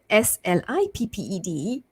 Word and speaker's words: slipped: I put ed, so SLIPPED, right? So listen to the difference. So we have slip versus slipped, right? The ed ending actually sounds like a t because of the p ending there, slipped.